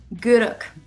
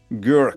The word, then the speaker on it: Gourock: Gourock. Gourock.